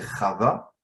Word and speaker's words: Chava: Quand vous prenez, bon, en français on dit Ève, je ne sais pas pourquoi on dit Ève, en hébreu c'est Chava.